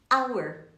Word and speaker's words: hour: Hour, hora em inglês, hour. Hour, o H não é pronunciado.